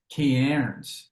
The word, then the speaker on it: Cairns: Like, how the hell do you say Cairns? And it's like Cairns.